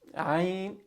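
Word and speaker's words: عين: It's in the middle of your throat.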